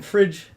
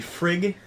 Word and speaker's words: fridge: in refrigerator is because when you shorten or abbreviate the word, you move the G sound from the beginning of a syllable to the end. So the syllable in fridge, if you didn't have the D, it would be frig. So you have to add the D in, otherwise it makes it a different word.